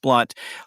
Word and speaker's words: Blount: And my last name is spelled Blount, although it's pronounced Blunt.